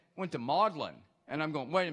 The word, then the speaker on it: Magdalen: files we have here who knows how to pronounce the name of that college at Oxford yes ma'am modlin modlin College because I kept hearing